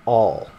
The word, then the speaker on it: awl: this is called an all that's what my wife told me a WL a WL yeah I spell that wrong awl is how it's spelled it's an all it's kind of like